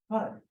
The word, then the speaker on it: PUD: Rhymes with bud. PUD, peptic ulcer disease, and that is due to the NSAID inhibiting the activity of COX-1 in the stomach.